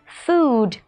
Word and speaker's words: food: nhận ra được rằng đây là âm u dài. Vậy đối với âm này thì mọi người kéo dài hơi ra nhé. Chúng ta đọc là food.